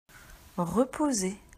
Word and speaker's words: reposer: Reposer. Attention, le son Z est fait par la lettre S.